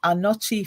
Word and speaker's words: Anokye: So that's Anochi Films, but it's spelled ANOKYE Films, and then that's the YouTube channel, Anochi Films.